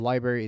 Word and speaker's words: LBRY: through library and also the library is spelled lb or y dot TV the spelling is kind of funny but that's - that's how it is right there - now